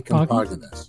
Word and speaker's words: Compoginis: My dad said Compoginis, so I say Compoginis.